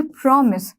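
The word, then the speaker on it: promise: प्रॉमिस, प्रॉमिस कैसे pronounce करोगे, प्रॉमिस, प्रॉमिस, यहाँ पर ये वाली जो मात्रा होती है वो क्या होती है, ओ ओ की होती है ना, प्रॉमिस, ठीक है।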